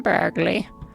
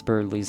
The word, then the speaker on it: Birdley: You could stand to learn a thing or two from that polite young man, Burgley. Oh my goodness, even Miss Boom, can't pronounce Birdley's name correctly. Oh, Birdley.